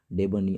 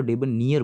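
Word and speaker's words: debonair: इसको डेबनियर पढ़ते हैं, डेबनियर। अब इसको डीबो नायर मत पढ़ना, डीबो नायर वो गलत है, इसको डेबनियर पढ़ेंगे, डेबनियर पढ़ेंगे।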